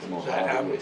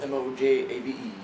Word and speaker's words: Mojave: Mojave. O Mojave. Just like Mojave Desert, man. M O J A V E.